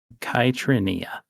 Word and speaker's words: Kitrineia: Like I said, you just call me Kit, but it is pronounced Kitrineia. Kitrinia. Kitia. Okay. Four. Four syllables.